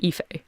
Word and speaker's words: Fá: been something besides black i'm fá it's pronounced fa I'm the town metallurgist